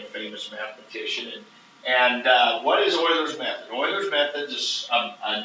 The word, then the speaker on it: Euler: can't talk painful call his name is boilerman Euler Euler's method and again we'll get a little history lesson on him a little bit and he was a famous mathematician and what is Euler's method or methods is a numerical method for